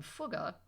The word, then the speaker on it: Fugger: But before you dissolve into fits of laughter over the name Fugger, note that it rhymes with took, not with duck.